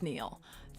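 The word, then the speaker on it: Nihil: sir Neil who's Neil it's Neil actually well you're going to have to spell it out because they just put Neil n i h i l so basically it's Neil thanks tedo Turles what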